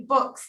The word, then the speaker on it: Buchs: The first one is Josceylon Buchs. And please correct me if I mispronounced your name. Yes, it commonly happens. It's actually Buchs, like a book, which is fun in running for school board here.